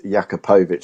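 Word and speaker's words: Jakupović: It's Jakupovic, Phil. I can't say it. I honestly felt after the League Cup and then that Jakupovic started at Fleetwood and then started in the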